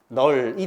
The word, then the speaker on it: 넓다: 그럼 어디 거 발음한다? 리얼로 발음하는게 맞습니다. 그래서 이렇게요 발음 뭐다? 널이 됩니다.